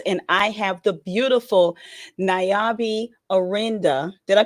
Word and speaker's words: Nayaba Arinde: Welcome again to another edition of NetStruc Talks, and I have the beautiful Nayaba Arinde. Did I pronounce it right? Nayaba Arinde.